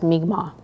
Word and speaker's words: Mi'kmaq: Mind you, a lot of the time they come in and pronounce our names wrong, but it's our duty, myself and my staff, to nonchalantly introduce them and Mi'kmaq people as Mi'kmaq. If they refer to us as Micmac, it's we are the